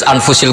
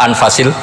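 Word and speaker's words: أنفس: Di sini ditulis anfusil kutub, selalu saya baca anfasil kutub karena maknanya kitab terbaik. Kalau kitab terbaik bacanya bukan anfus tapi apa? Anfas.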